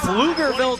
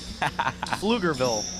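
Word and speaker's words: Pflugerville: 11 points out of flugerville texas and don't get it twisted alvin that's spelled with a p plugerville they must be very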